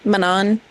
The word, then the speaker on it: Manon: And oh, we met Manon Manan if that's how you want to pronounce it, but I'm going to say Manon as always.